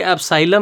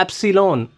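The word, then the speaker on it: epsilon: नहीं होता ये बेटा एप्सन होता है फिर से सुन लो ये एसाइलम नहीं होता नहीं होता नहीं होता बहुत से टीचर इसको एसाइलम बोलते हैं एसाइलम नहीं होता ये होता है एप्सन एप्सन एप्सन एप्सन एसिन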